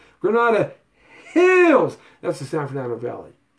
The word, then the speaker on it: Granada Hills: we're not a Hills Granada Hills you gotta say it like that Granada Hills that's the San Fernando